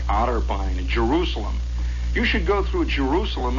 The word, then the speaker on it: Jerusalem: and you come whistling at Jerusalem by the way is the way it's pronounced out there you start coming into